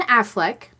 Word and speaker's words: Affleck: Ben Affleck, did I say it right this time?